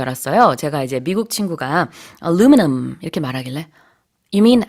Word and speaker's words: aluminum: 제가 이제 미국 친구가 aluminum 이렇게 말하길래 You mean aluminium?